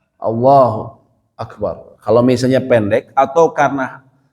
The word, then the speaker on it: Allahu Akbar: Dia memutus bacanya Allah Akbar. Kita pernah bahas waktu takbiratul ihram, ya. Tidak boleh diputus kayak gitu, kecuali diputus oleh waktu yang sangat pendek. Ya, Allahu Akbar.